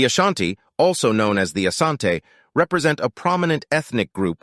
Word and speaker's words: Asante: combat the denira kingdom the variant name Ashanti emerged from British accounts attempting to transcribe the pronunciation of Asante as heard by the British eventually the hyphenation was